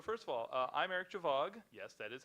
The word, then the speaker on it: Gjovaag: So first of all, I'm Eric Gjovaag.